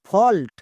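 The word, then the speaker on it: fault: এ ইউ এল টি ফল্ট যদি কোন শব্দে আমরা এ ইউ ভাওয়েল ব্লেন্ডিং ওয়ার্ড দেখতে পাই ও সাউন্ড করে দেবো যেমন আরো কয়েকটি ওয়ার্ড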